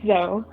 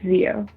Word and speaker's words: Zio: My name is not Zoe. My name is not Zoe. I'm not Xenon, the fucking space girl from Disney Channel. It's Zio.